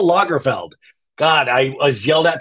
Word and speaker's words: Lagerfeld: keep calling them Locker it's Carl Locker field no it's Carl Lagerfeld God I was yelled